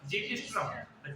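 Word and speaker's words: xiphisternum: X का कई मतलब हो सकते हैं, कई सब साइलेंट होते हैं, इसको क्या बोलेंगे अपन? जीपीस्ट्रम।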